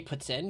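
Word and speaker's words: poutine: It's kind of similar to that. Would be the Quebecois, the authentic way to pronounce it.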